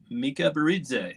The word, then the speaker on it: Mikaberidze: We have a very good friend of mine from Louisiana State University here, Shreveport campus, Alexander Mikaberidze.